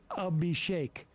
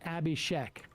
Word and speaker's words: Abhishek: pronounce Vivek as Vivek similar to how my name Abhishek is pronounced a b Shake not Abhishek in that tiny aspect